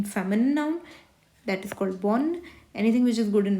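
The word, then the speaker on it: bonne: that is for male बोन हल्का सा न का साउंड आ रहा है बोन पूरा ई का साउंड नहीं आ रहा है दिस इज फॉर फीमेल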